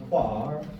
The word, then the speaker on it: choir: He also dropped off the last R on quar. Choir. I loved being in Kentucky. It's spelled it K-W-A-R. It's quar. It's quar. They do love quar up there.